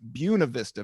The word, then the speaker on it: Buena Vista: And you came, and what we're talking about is a small town called Buena Vista, Virginia, but it's pronounced Buena Vista, Virginia, Right.